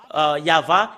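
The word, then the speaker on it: Yahweh: de de Torah qui stipule bien que c'est yava qu'on le prononce et c'est cela avec cela qu'on le prononce au ciel des cieux yava et tout ce qui prononce le nom de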